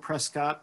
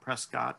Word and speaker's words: Prescott: those from other places it's spelled prescott but don't ever call it prescott it's prescott like biscuit uh and we went